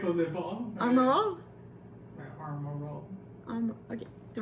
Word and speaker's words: Armor All: a acheté au Cannon Tire un kit de Armor All. Tu manques que ça se prononce? Armor All. Comment tu prononces ça? C'était correct au départ. Armor All?